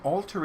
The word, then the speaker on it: Alter: They are Orbs66, Sylvia Alter, and Alter is spelled like alter ego, like changing into superhero, superhero.